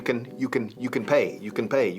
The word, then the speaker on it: can: You can pay. El afirmativo can apenas se pronuncia. Escuchad. You can pay. Pay lleva la acentuación y you can pay for it.